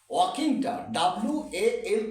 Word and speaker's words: walking: তো এখানে বলছি যে ওয়াকিংটা WALKING, ওয়াকিং, ওয়াকিং, ওয়াকিং, এলটা silent, ওয়াকিং silent letter.